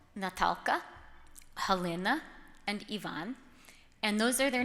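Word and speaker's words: Іван: very firmly if people try to call him Ivan he says he's only seven but he'll say no my name is Yvonne and he waits until the person carefully correctly pronounces it Ivana do you do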